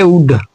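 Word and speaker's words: would: अगला है उड। तो डी के पहले एल आ गया तो एल को नहीं पढ़ेंगे।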